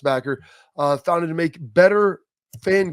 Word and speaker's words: BCKR: It's BCKR, but pronounced Backer.